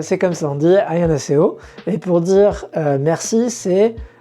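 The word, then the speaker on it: 안녕하세요: Alors en coréen c'est Annyeonghaseyo. Vous voyez que voilà, la façon dont je le prononce c'est pas forcément comment vous l'aurez interprété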